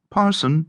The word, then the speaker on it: Person: As the person, Hugh Person, corrupted Peterson and pronounced Parson by some, extricated his angular bulk